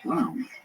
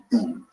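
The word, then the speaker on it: Bown: I call the Canadian author Stephen R. Brown. That's wrong. It's Bone. B-O-W-N. First, my bad typing, or perhaps autocorrect, but that's on me.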